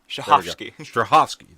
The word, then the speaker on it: Strahovski: Strahovski. That's how you say it.